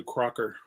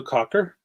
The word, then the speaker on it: Cocker: When I was a kid, I used to think it was Joe Crocker. And I don't know why. We must have had somebody in the neighborhood and their last name was Crocker. And I said, they're not saying it right on the radio.